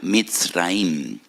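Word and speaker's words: מצרים: esclavitud porque la palabra Egipto en hebreo se pronuncia misraim y en hebreo hay dos mes dos letras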